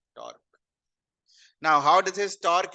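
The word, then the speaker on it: tau: application is finding of torque टर को ऐसे लिखते हैं और रीड कैसे करते हैं प्रोनाउंस कैसे करते हैं इस साइन को इस साइन को कैसे प्रोनाउंस करते हैं टा ऐसे होता है ना सिग्मा अल्फा बीटा गामा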